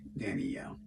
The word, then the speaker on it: Danielle: Danielle see what happens is there three syllables of Danielle or two Danielle Danelle or Danielle I would say three dannyelle if you're saying it